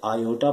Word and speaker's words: iota: इससे आयोटा पढ़ा जाता है और इस तरह से लिखा जाता है और स्पेलिंग इसकी IOTA यानी कि आयोटा।